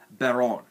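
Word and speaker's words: Baronne: baron de floor i don't know why people pronounce this baronet but it's literally pronounced baron berron which which i believe is french for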